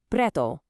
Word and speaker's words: preto: First up, the word for black, preto. Give it a try. Preto. Do you hear that soft tapped R right after the P? Just like the double T in butter. Okay, now for pink, rosa.